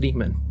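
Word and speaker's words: daemon: Well, and and just to say that's actually how it's it's it looks like Damon, but it's pronounced demon.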